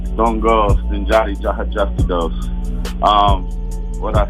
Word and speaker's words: Sten Joddi: All right, so first things first, for those who might have seen you online and stuff, how do you pronounce the name? Sten Joddi.